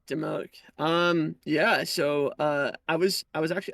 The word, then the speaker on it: Dimoak: Okay, Dimoak. Dimoak.